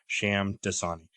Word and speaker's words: Shamdasani: Just the last part of his last name is just like the water. Shamdasani.